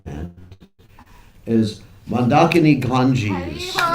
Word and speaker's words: Mandakini: your right hand, is Mandakini Ganges. Some people pronounce it Mandakini. You can pronounce it Mandakini or Mandakini. The actual pronunciation is Mandakini.